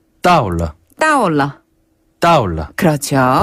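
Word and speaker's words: 到了: 그래서 뭐뭐 했습니다를 뜻하는 러를 붙여서 따올러. 따올러.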